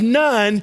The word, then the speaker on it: Nun: Joshua, the son of Nun, which if you just take that phonetically, sounds like he has no parents.